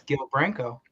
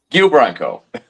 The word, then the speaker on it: Guile Branco: Can you pronounce his name correctly? It's Guile Branco. Okay. Guile Branco.